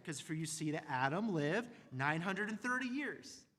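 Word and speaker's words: אָדָם: If you know Hebrew, the word man is pronounced Adam or literally Adam, right?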